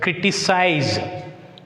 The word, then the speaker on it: criticize: Criticize. Criticize. Here we should put stress mark on the first syllable.